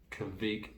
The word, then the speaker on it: kveik: Our only defense, the juice division, commanded by our house Kvik yeast blend and backed up with a heavy